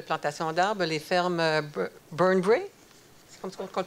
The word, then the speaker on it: Burnbrae: Donc, participation financière dans un projet de plantation d'arbres, les fermes Burnbrae, c'est comme ça qu'on le prononce?